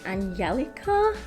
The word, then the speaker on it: Angelica: calls herself angie but i believe in swedish it's pronounced angelica and her last name